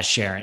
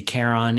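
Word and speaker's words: Charon: after his wife yeah Sharon it's the Greek is that is a hard C so it's supposed to be Karen and like the Greek mythology but he named it after his wife Sharon so Sharon Sharon yeah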